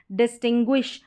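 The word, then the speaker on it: distinguish: जैसे कि यहाँ पर देखें, यहाँ पर है एंग्विश, डिस्टिंग्विश, पैंगुइन। गुई करके पढ़ा जा रहा है इस GUI को, जो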